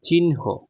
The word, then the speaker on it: চিহ্ন: তো চিহ্ন আমরা কিন্তু চিহ্ন বলি কিন্তু এটার উচ্চারণ হচ্ছে চিহ্ন ঠিক আছে তাহলে দেখো এটা কেমনে হবে চরিচি